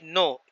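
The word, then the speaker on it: know: तो ही नो, KNO, तो के साइलेंट है, नहीं पढ़ा जाएगा।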